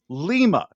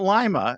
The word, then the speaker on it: Lima: In Ohio, there's a city called Lima. It's not Lima. It's spelled like Yes. lima bean, but it's Lima.